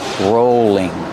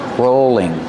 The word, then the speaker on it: rolling: Use a long O sound for row, rolling. And the L is between vowels, so it's a light L, rolling.